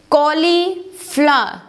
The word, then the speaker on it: cauliflower: It is cauliflower. Cauliflower. It's not R. R is silent in it, so you should say it's cauliflower. Cauliflower. It's not flower, it's cauliflower.